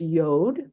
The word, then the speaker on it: yod: would be transliterated as yod rhyming with rad which we transliterate as